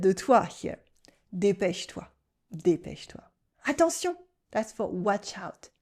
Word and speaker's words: attention: Attention, that's for watch out. Attention. Here we have two nasal sounds, on and on. Attention.